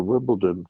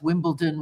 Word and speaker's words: Wimbledon: of Americanized resident that actually I've ever heard pronounce Wimbledon with a D correctly.